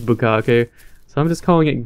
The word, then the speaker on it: bukkake: friend of mine, and I originally called it butt cake. Butt cake? And he was laughing at me because I was pronouncing it wrong. I was like, oh, I didn't know it was bukkake.